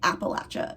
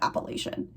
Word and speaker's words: Appalachia: I've been trying to train myself to say Appalachia instead of Appalachian, because that is how, you know, the people in the region pronounce it, and I would like to respect that, but I might mess up in this video, okay?